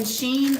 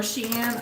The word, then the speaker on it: Shein: Temu and Shein, or Shein, I've heard it pronounced both ways.